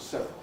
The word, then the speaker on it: several: Similarly, I think I always say several. At the time I drew up this screen, in EPD it gave you 3 syllables in several, which I think is really unrealistic, because I think most native speakers, at least British ones, always normally pronounce it with 2 as several.